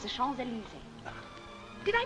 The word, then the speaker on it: Champs-Élysées: It's the Champs-Élysées. Did I pronounce that nicely?